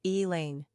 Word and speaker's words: Elaine: Quick facts on Elaine Gender, girl Origin, English Number of syllables, 2 Ranking popularity, 767 Pronunciation, E-E-Lane Simple meaning, ray of